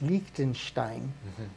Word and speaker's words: Liechtenstein: Only got to say it right. It's Liechtenstein, and those guys used to be.